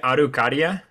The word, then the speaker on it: Araucaria: Is it Araucaria? Yes. Okay. Exactly. Yeah, that was. Yeah. I wasn't going to try pronouncing that.